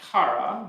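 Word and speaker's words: קרא: So Kaf Resh Aleph, and it's pronounced Kara.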